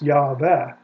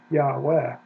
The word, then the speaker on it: Yahweh: It doesn't have Yeh, it's not Yeh like short for Yehovah, it's Yah. Now, if you want to know about the second syllable, why it's Veh, or at least that's the best guess, Yahweh, Yahweh, you can go to